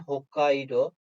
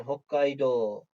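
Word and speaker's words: Hokkaidō: bulunan adanın ismi yani hokkaido sondaki o harfi uzatılıyor Yani hokkaido bu yazımda uun u ve ufa U şeklinde ama okunuşta sadece udun no'sunu uzatarak okunuyor başka istisnalar da var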